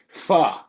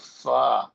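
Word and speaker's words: phở: She's like, "No, there's an accent on the top of the O, so it's pronounced pho."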